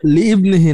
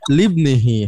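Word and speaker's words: لِابْنِهِ: ফাকালা লি ইবনিহি, না লিবনিহি, হ্যাঁ এখানে ইবনিটা উচ্চারণ হবে না, ফাকালা ইবনিহি মুসা।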